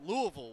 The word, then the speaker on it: Louisville: the Gators being home Louisville will come to talahasse said it right Louisville Louisville it's kind of syllable in a half all right Heyman back